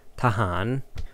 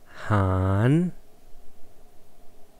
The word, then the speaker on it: ทหาร: no specification, you can just say the word tahan, which should be enough for people to understand what you mean. Okay, let's try to pronounce tahan together. Tahan. Tahan. Thahan.